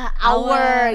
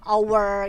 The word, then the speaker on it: hour: Ya, saya juga kan kalau every hour kan ditulisnya every hour gitu, dibacanya hour kan, padahal sebenarnya tuh dibacanya tuh hour ya, tanpa gitu. H ya, tanpa H, jadi hour ya, kayak gitu.